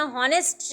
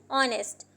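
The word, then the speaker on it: honest: नहीं रीड करेंगे ना, हॉनेस्ट रीड करेंगे तो कितना अजीब सा लगेगा, तो हम इसे पढ़ते हैं ऑनेस्ट। हम जब इसे रीड करते हैं तो अब इसके अंदर कौन सा वर्ड साइलेंट हुआ? H हमारे पास यहाँ पे साइलेंट है।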